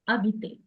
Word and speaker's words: habiter: Aimer, Aimer, chanter, chanter, chanter, chercher, chercher, danser, danser, danser, danser, danser, demander, demander, habiter, habiter, habiter, HE silent, habiter, habiter, habiter, jouer, jouer,